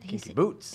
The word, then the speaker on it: Kinky Boots: I like to say it like Billy Porter says it. Kinky Boots. He likes the boots. Yeah, he puts the emphasis boots. on the boots.